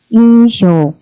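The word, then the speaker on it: 印象: 첫인상은 상당히 좋았다라는 첫인상 인쇼 그죠 아니면 뭐 좋은 인상을 주다가 그랬을 때 인쇼이 명사는이 도장 인자에 코끼리 상자 이렇게 쓰시면 되죠 이음자 명사 그죠 쇼라고 발음을 하시면 되고요 얘는 음독 그대로 발음을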